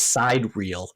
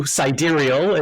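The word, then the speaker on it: sidereal: your book so I I thought it was side real so thank you siderial is is is an improvement in my pronunciation for the vocabulary okay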